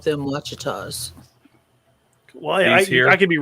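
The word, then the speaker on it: Ouachita: He said that it's pronounced Wichita. I'm like, no, it's not the Wichita Mountains, buddy. No.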